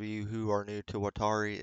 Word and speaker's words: Waltari: for those of you who are new to watari It's pronounced wall tar e um there's something Below Zero featuring the legendary